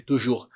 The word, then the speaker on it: toujours: Esse toujours aqui é sempre, sempre, toujours. Percebam novamente que o S não é pronunciado aqui. O S não é pronunciado. A gente fala toujours.